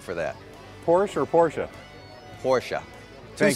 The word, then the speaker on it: Porsche: Porsche. Thank Two-syllable.